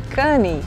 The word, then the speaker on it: Cannes: Eu passei a viagem inteira falando Cannes e Antibes, e realmente é sem o S. A gente pronuncia Cannes e Antibe.